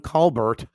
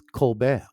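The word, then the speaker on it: Colbert: just spell it CR that's like um Steven Kar right if you read his name it's Steven Calbert I know but it's Kar I know tar tar so in St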